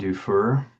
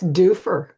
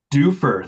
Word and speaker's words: Dufur: He's a former mayor of a small town in Oregon named Dufur if I'm pronouncing that correct. I'm from Michigan. You're not. I'm not. It's Dofur. Dofur.